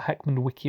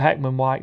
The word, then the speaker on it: Heckmondwike: heckmondwike whatever it's called it's not Heckman Wiki or whatever he called it but Heckman white the only reason I